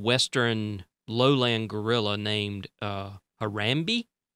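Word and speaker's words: Harambe: lowland gorilla named uh harami I guess is how you pronounce it it's h a r a m b e anyway there was this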